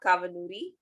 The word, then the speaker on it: Kavanoori: And by the way, your longer name is not, but you're giving me a hard time to pronounce. Yeah. So my name is Kavanoori.